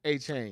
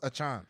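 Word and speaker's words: Achane: Is it Achan or is it A-Chain? No, it's spelled A-Chain, but he wants Achan.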